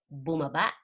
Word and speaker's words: bumaba: short in fast so you're gonna pronounce the first proceeding syllables fast and when you get to the final syllable you're gonna cut that power short so it's bumaba okay so boomer back